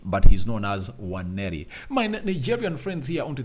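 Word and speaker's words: Nwaneri: W not w w meaning that the N is silent and it's not pronounced but by the way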